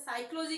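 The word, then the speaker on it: psychology: जैसे साइकोलॉजी की स्पेलिंग क्या है, पी से स्टार्ट होती है, ठीक है, लेकिन हम पढ़ते क्या है, एस से, साइकोलॉजी।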